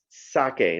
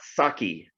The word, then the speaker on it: sake: this easy four letter word so um it's pronounced sake now we're not in a live audience and